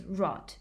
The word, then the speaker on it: rot: Also, Tok Pisin has a rule that at the end of a word or a syllable, the voiced plosives g and d from English become voiceless g and t. So the word for pig is pig, and the word for road is rot in Tok Pisin.